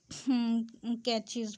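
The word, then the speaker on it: cache: many different types of catches pronounced like cash in computer but they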